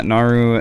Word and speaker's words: Naru: back of my phone yeah so he has Naru is that did I pronounce that right yeah Naru Naru holding ory it's a it's engraved on